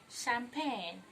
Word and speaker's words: champagne: Then finally for consonant sh, we have the word champagne. Champagne. We're gonna pop champagne and not we're gonna pop champagne. Do we get that? Now letter CH here give the sound sh and not ch.